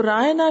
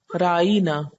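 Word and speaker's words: راعنا: دہرانے کے لیے کہتے تو رائنا کی بجائے ذرا سی اس میں اپنی زبان کو یا اپنے تلفظ کو بدل لیتے اور کہتے رائینا، رائنا کی بجائے رائینا، یعنی زیر کی بجائے ساتھ یہ بھی لگا لیتے۔ رائی عربی زبان میں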